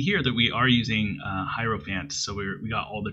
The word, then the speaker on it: Hierophant: Hierophant, however you want to say it. I believe it's Hiero, like hieroglyphics, because that's how it's spelled.